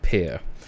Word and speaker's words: PYR: is vulcan forged so this word is actually pronounced pear vulcan forged is a blockchain game studio and nft marketplace they are the makers of vulcan verse pier is the native utility